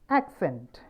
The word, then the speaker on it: accent: Now if it is on the second syllable, accent. For example, the TV show that accented the youth. The TV show that accented youth. അവിടെ രണ്ടാമത്തെ സിലബിളിലാണ് stress വന്നിട്ടുള്ളത്. So obviously it will become a verb.